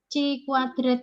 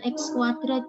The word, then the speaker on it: chi-kuadrat: wanna Hai pegawai hasil Chi kuadrat hitung bacanya bukan x kuadrat ya tapi chi-kuadrat hitungnya diperoleh 1,55 kemudian